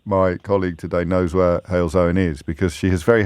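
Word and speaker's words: Halesowen: don't know that my colleague today knows where hail's own is because she has very helpfully put hail's own brackets pronounced hails owen closed brackets and has to given that i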